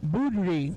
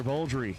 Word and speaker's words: Boldry: Taylor Boudry, right side, 648. Taylor Boldry killed down the right-hand side, the Boldry Racing Team. Gotta pronounce the L.